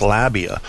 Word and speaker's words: labia: not labia it's labia I always thought it was lebia too but I read in the dictionary that it was pronounced labia so okay I'll say